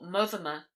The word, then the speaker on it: Monthermer: Hugh, Lord of Monthermer, or Mothermer, as it was generally pronounced, and whom, as his